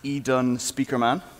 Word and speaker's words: Edenspiekermann: That's pronounced Edenspiekermann.